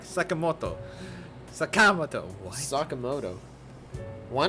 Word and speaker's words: Sakamoto: Not Sakamoto. It's Sakamoto. Even without the accent, you can just say it like that with a proper articulation. They're putting stresses in weird ways, man.